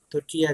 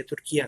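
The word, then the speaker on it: Türkiye: officially उन्होंने ये तुर्किया जो है अपने लिए चूज़ किया, क्योंकि तुर्की का जो उनकी अपनी ज़ुबान में वो तुर्किया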